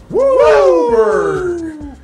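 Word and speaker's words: WUBRG: It's not pronounced 5 colors, it's pronounced Wooberg.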